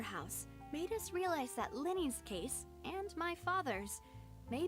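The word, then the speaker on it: Lyney: made us realize that Lenny's case and my father's may be related so they pronounce it Lenny it looks like L investigate the details of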